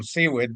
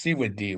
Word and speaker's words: Sewid: Uh, my name's Seawwood. My last name actually is pronounced seawe, which means paddling towards a chief giving potlatch in the language of